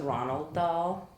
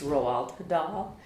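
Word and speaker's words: Roald Dahl: I always thought it was Ronald doll, but it's not. It's Roald Doll.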